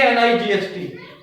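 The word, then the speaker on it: knight: right k i k n i g h t here is a combination of letters g x and P G will be silent and the pronunciation will be night what night White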